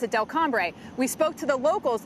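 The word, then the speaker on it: Delcambre: say i looked online and they pronounced it del cambre we spoke to the locals the locals say delco so i'm going to go with the locals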